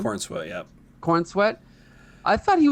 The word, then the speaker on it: Corenswet: Is that how you pronounce his name? Corenswet, yeah.